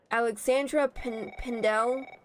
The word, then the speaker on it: Alexandra Pendel: Alexandra Pendel. That's how you pronounce her name.